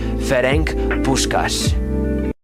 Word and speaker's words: Ferenc Puskás: changed their family name, and that name was Ferenc Puskás. I pronounced it right.